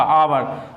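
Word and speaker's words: hour: तो आवर की बात करें तो उच्चारण यानी एच तो है हमारा कॉन्सोनेंट, लेकिन उच्चारण क्या आ रहा है, ओ का, आवर, तो इसलिए हमारा क्या लगेगा, एन लगेगा।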